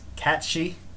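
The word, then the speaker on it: Cait Sith: so i've called them kids my whole life apparently that's irish it's catchy i don't care enough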